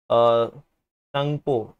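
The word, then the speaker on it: Tsangpo: अब एक और ट्रिब्यूटरी है बेटा अपार्ट फ्रॉम दिस, ये जो रिवर आप देख रहे हो संगपो राइट, रिवर संगपो जो आप देख रहे हो टी साइलेंट बेटा, तो रिवर संगपो जो है this also starting from the greater Himalaya.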